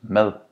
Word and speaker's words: mad: Food in Danish is mad. Skin in Danish is hud. Notice that both of these words is not pronounced with a hard D, but with a soft D. Mad, hud.